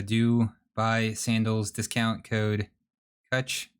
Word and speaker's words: Kutch: So do buy sandals, discount code Kutch, spelled like clutch, but with a K and no L. So not at all, really, like clutch.